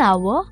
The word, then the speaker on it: hour: We also say an hour and an honest man. But why? Because even though these words begin with a consonant, the letter H is silent.